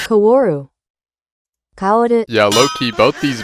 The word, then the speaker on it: Kaworu: The main point of concern is how they toned down Shinji and Kawaru? Is that how you say it? Kaworu.